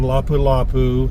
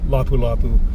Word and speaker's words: Lapu-Lapu: Again, Lapu Lapu, Cebu City.